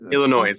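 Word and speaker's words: Illinoise: me that this Illinois is that how you pronounce it Illinois yes Illinois um it's spelled different I this seems like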